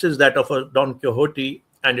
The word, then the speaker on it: Quixote: today's subject, Don Quixote, some called it Quixote, some call it Quixote, some say Quixote, and the Spaniards themselves say Don Quixote. Quixote.